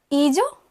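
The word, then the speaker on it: hija: ईजो, यही पढ़ा होगा आपने, और इसको ईजा.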